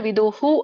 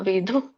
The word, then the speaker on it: ವಿಧು: ಸೊ ಹಾಗೆ ನೀವು ಕೂಡ ವಿದು ಅಂತ ಹೇಳ್ಬಿಡ್ತೀರಾ. ನೀವು ಗೊತ್ತಾಗ್ಲಿ ಅನ್ನೋಕ್ಕೋಸ್ಕರ ವಿದುಹು ಅಂತ ನಾನು ಹೇಳ್ತೇನೆ, ಬಟ್ ವಿದುಹು ಅನ್ನೋದು ಕೂಡ ತಪ್ಪು ನಾನು ಹೇಳೋದು. ಅರ್ಥ ಆಯ್ತಾ? ವಿಧು ಹೇಳ್ಬೇಕು.